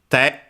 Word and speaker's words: 手: First, it's strictly Japanese pronunciation, and is also the word for hand in Japanese. Te, accented, which means hand.